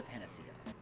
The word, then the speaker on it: panacea: It's one of those, it's Greek, so it's probably a hard C. But no one's going to say that. No one's going to say Panacea.